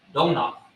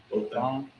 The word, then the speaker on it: Dothan: Donoth. Donathan. How you pronounce that? Dothan.